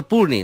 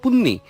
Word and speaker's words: পূর্ণি: কিন্তু পূর্ণি উচ্চারণ হচ্ছে পূর্ণি, নট পুণ্যি। পুণ্যি হলে কেমন কেমন লাগে মানে।